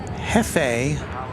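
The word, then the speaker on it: Hefei: flight flight 7478 it's going to Hefe which sounds like the word for boss in Spanish but uh that's in China Hai HEI F EI I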